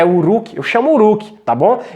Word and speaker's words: Uruk: Se pronuncia assim, Uruk. A pronúncia deve ser essa, tá, pessoal? Pronúncia Uruk.